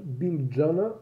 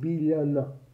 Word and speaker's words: Biljana: billionaire george sorry georgievich julie so she's not bill jenner but billionaire yeah so l and j is pronounced as le i don't think that there